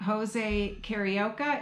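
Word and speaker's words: José Carioca: at the Grand Fiesta Tour Ride, the animatronic Jose Carioca, am I pronouncing that right?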